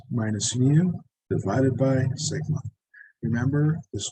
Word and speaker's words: mu: down so z-score is okay it's x minus mu divided by sigma remember this guy is pronounced mu this is the average this is